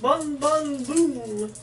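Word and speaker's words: Bon Bon Bum: Bon Bon Boom. Except it's pronounced B-U-M.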